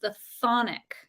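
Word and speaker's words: chthonic: Greek and it's pronounced the phonic so the CH is silent I'll read the card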